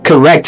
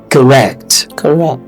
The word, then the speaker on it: correct: So the schwa is in the first is in the first syllable. So the rect is when you have the stress. So it's going to be correct. Instead of correct, like we say in Nigeria.